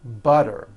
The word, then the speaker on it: butter: Remember, all the T's are pronounced as D's because they fall between vowels. Betty bought a bit of better butter.